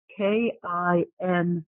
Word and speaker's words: Kintsugi: and the spelling is K-I-N-T-S-U-G-I. So I'm going to say it again in case. So K-I-N-T-S-U-G-I, but the T is silent when you speak it, right? It is silent. Okay. Kintsugi.